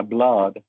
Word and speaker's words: blood: mismo cuento o novela, la palabra book y la palabra blood. Ambas tienen dos o y se pronuncian distintos.